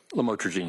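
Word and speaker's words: lamotrigine: drugs about the u the lam otherwise known as lamatroine. Did I pronounce that right? Lamotrogene. Yes.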